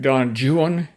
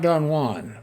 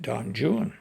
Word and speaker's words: Don Juan: long narrative poetry like Don Juan not Don Juan but it's he you can tell from the rhyming in his poem he pronounced it Don Juan anyway I'm not going